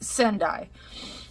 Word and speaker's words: Sendai: So it's Sendai, I believe.